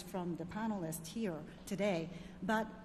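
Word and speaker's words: Biao: hello my name is also in case you've intimidated by three vowels in my name it's pronounced meow with v so don't forget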